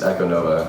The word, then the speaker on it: Ekonovah: Yeah, it's Ekonovah.